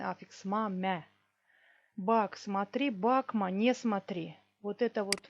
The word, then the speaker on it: bakma: Бакма, не смотри. Тут ударение еще есть. Бакма. Ударение падает на корень слова.